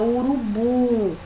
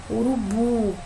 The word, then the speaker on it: urubu: que é que a palavra urubu olha que quando você com mais força urubu é o burro né que no caso aqui a última sílaba portanto ela é uma